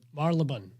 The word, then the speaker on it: Marylebone: another place that I don't know how to pronounce, but it was a very lovely, nice farmers market. Marylebone.